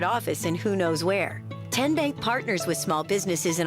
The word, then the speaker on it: TN Bank: TN Bank? Nope. Tin Bank? So what is it? 10 Bank. 10, as in Tennessee, right here where all our banking decisions are made.